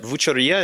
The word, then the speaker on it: Vucceria: And there's a tremendous market there, and I'm not going to say it right. Vucceria, is that? Vucceria, exactly. You say right.